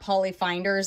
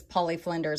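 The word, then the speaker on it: Polly Flinders: think two or three poly Flinders and is it Flinders yeah so I just found out that it's not poly finders it's poly Flinders everybody told me thanks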